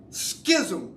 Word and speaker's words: schism: It is pronounced schism with a K. There's no K in that word.